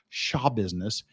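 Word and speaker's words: Schabusiness: printed i found out she pronounces it shaw business taylor shaw business if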